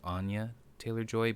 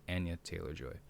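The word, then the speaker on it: Anya Taylor-Joy: it's not i i always thought it was anya taylor joy but it's anya taylor joy um yeah she yeah she's gorgeous by the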